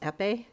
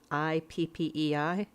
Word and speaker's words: Ippei: I was surprised at how much he relies on this guy, I guess it's pronounced Ippei, Ippei, Mizuhara.